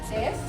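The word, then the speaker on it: です: Jadi kalau melihat des, maka harus diucapkan. Kalau desu itu harus des, kemudian kalau masu itu menjadi mas.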